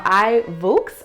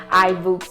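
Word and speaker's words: iVoox: So I would highly recommend iBooks, and it's spelled I-V-O-O-X. So I think that's how you pronounce it.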